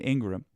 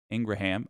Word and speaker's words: Ingraham: that Carlson Hannity and Ingram Ingraham I can't believe that's the correct way to say her name but it is uh didn't believe the